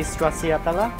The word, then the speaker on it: Stracciatella: For the next course, we have the smoky stracciatella. How do you pronounce the cheese?